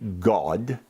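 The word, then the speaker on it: Gad: deity whose name was G-A-D, but it's pronounced G-A-W-D, God.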